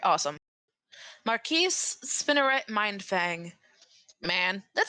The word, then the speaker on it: Marquise Spinneret Mindfang: I can't pronounce the first one. Help. Oh, Marquise Spinneret Mindfang. All right, awesome. Marquise Spinneret Mindfang.